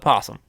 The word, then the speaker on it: opossum: It's just that somebody wants to say it opossum, the O is silent, they call it possum.